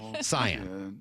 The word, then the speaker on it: cyan: You're getting roasted for saying cayenne instead of Yeah. No, it's cyan. Excuse me. I'm sorry about that. Did I say cayenne? Like the pepper. Cyan. That's a with a soft C.